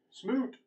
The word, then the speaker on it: Smoot: on the initiative Smoot Smoot rhymes with oot try something okay all